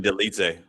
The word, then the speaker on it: Dolidze: Roman Dolidze.